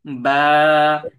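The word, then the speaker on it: ب: ঠিক আছে, তো এই যে শুকনা অংশ, এই শুকনা অংশ থেকে বা হরফটি উচ্চারিত হয়।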